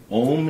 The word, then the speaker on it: Om: depth when pronounced correctly it is actually a home is four syllables this I learned a you m and the silent syllable the first syllable is